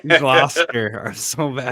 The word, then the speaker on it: Gloucester: I live in Essex, but but Gloucester is probably the word that you're trying to say. Gloucester. I'm so bad. Glouster.